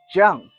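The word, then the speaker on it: 酱: Jung. Uh J I A N. Jung. Uh almost like saying the name John, but you just say it like jung.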